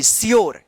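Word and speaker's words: sure: टी वाई ड्यू टी एस यू आर ई स्योर यहां पे इ साइलेंट रहेगा क्योंकि ई से पहले यू आया है ड्यूरेबल यहां पे भी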